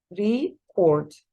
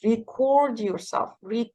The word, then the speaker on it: record: لو كانت verb فهقولها record. زي ما أنا دايما بقول لكم record yourself speaking English. record yourself. هنا الستريس بيكون على السكند syllable المقطع الثاني فبقولها record. طيب but if I'm talking about the noun لو أنا بتكلم عن الاسم اللي هو بقى التسجيل نفسه فهقول record like this.